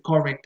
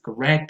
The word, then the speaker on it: correct: And so the stress will always go on the second syllable and not on the first. Especially with beginner students, I have heard them say, Professor, what's the correct answer?